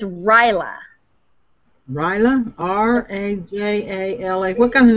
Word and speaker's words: Rajala: Rahala. Rahala. She says Rahala. Rahala. If it could be Indian, and Rajala. Rajala. Well, I thought it was like Rahala, but it's Ryla.